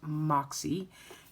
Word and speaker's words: Moxie: And then I did get the Moxie, it's Moxie, it's MAKSE Life, but it's pronounced Moxie, as in MOXIE, Moxie.